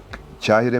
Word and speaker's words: Kahire: da doğru telaffuz edemedim Kahire midir Kahire Kahire Aslında Kaf iledir kahir ama evet söylemesi biraz